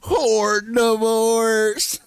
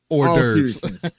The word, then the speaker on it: hors d'oeuvres: Hashtag horde divorce. That's right. That's right. Let's do it. And hors d'oeuvres. Hors d'oeuvres. Not how Steele's pronounced it, but anyway.